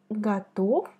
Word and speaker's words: готов: Quand tu vois la consonne V à la fin des mots, il faut la prononcer comme F, F, F. Tu vois ma bouche? Prononce comme moi, F, F. Готов, готов, готов.